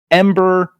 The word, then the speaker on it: EM8ER: The difference is it's /Ember 2KA, and Ember is just spelled EMBER. That's how you pronounce it anyways.